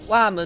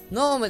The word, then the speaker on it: ノーム: それとですね、私ずっとワームって言ってたんですけど、ノームです。